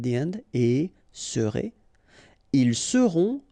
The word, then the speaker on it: seront: end, et serez, ils seront, final T not pronounced, elles seront.